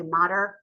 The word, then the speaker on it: mater: um that the menenis consists of the duramater, the I know some people say mater um yeah that's fine too but dura mater um